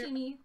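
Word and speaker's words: Sshimi: It is spelled S-S-H-I-M-I. Not Already- sushimi, sushimi. I already forgot what you said. Do that again. S-S-H-I-M-I. Like a snake sushi.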